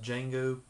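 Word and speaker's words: Django: Jango it's spelled with a d but it's pronounced d Jango again another great uh spaghetti western starring none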